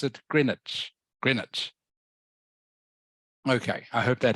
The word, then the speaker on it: Greenwich: though it it is spelled Greenwich okay you pronounce it Greenwich Greenwich okay I hope that helps Greenwich so you talk about Greenwich mean time GMT okay does that make sense